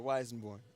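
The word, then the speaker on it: Weissenborn: the one that you were sound checking on, is that the Weisenborn? Is that how you say it? Weisenborn? Yeah, the Weisenborn.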